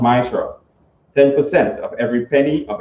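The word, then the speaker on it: מעשר: Means 10 in the Hebrew and pronounced Maishra.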